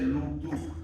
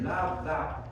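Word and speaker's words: lambda: Si quieres tomar los sonidos cardíacos, aquí están, por ejemplo, el o el D, ya no se dice lu, se dice labda.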